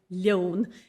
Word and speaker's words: leon: So the difference between your lunch, loan, and your lion, leon, it's that E that's telling you what kind of an L you should be pronouncing, loan or leon.